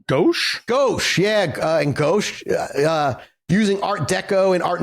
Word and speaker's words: gouache: She painted in watercolor and gouache, if that's how you say it.